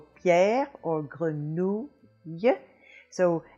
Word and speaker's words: grenouille: The French R is made in the back of the throat by raising the back of the tongue up higher and higher until it just hits the back of the soft palate in the back of your throat there, and you make a little friction, and you have grenouille, grenouille.